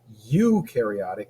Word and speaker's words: eukaryotic: procaryotic means no nucleus you carotic rhyme you with true you carotic organisms have a true nucleus you is true